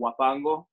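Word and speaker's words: huapango: there's another style rhythm called wapango which is spelled with an h h-u-a-p-a-n-g-o wapando and um and that's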